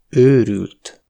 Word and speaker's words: őrült: La longueur des voyelles est très importante, comparez : örült (il s’est réjoui), őrült (fou) ; kar (bras), kár (dommage) ; Eger (le nom d’une ville), egér (souris).